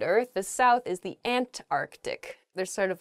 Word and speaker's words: Antarctic: really oh i guess when you're saying this word quickly you might leave out that first c in the antarctic so don't say that don't do that say antarctic the the very very